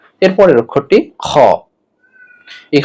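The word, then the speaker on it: خاء: এরপরের অক্ষরটি খ। এই খ কণ্ঠনালীর শেষ থেকে উচ্চারণ করতে হবে, অর্থাৎ কণ্ঠনালী গলার শেষ থেকে উচ্চারণ করতে হবে।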